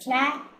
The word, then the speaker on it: Chlamydomonas: So please pronounce it correctly. It is Chlamydomonas.